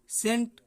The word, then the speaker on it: scent: जैसे आप देख रहे हैं SCENT है ना, सेंट। तो सेंट में हमारा सी है, सी नहीं पढ़ा गया।